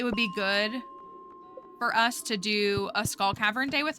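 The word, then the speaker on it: Todew: yes yeah there's a to-do list mod I literally think it's called to-do but I think it's spelled t o d e w I think is the name of it maybe we should get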